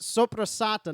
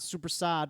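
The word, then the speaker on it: soppressata: It's soprasata, not supersad.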